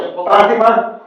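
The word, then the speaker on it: πάθημα: Pathima, Mathima. It rhymes.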